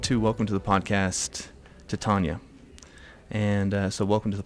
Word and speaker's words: Titania: Is that the correct pronunciation? It sure is. Titania.